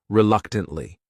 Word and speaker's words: reluctantly: The next word is reluctantly. This word has 4 syllables, and the stress is on that second syllable. That third syllable also has that schwa.